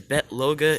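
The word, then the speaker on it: Bete Loga: don't know bet is bet loga is the wolf dude that's how you pronounce his name bet even though it's b-e-t-e is bet all right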